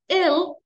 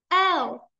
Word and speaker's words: L: ما نقول ill, ill, نكسرها. Ill, ill, ill. هذه كلمة باللغة الإنجليزية أيضا وتعني مريض. اوكي، اذا ايش نقول؟ نفتحها، نفتح فمنا ونقول L L.